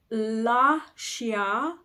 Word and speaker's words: Lascia: we're going to go with those lovely open latinate vowels so um La Shia pianga so the beautiful thing about singing in Italian is the vowels don't really change and as long as